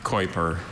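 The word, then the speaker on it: Keuper: Are there any alternate pronunciations? I have just the one, Kuiper.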